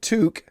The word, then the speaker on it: toque: that Kevin is wearing something called a toque pronounced toque I'm not sure if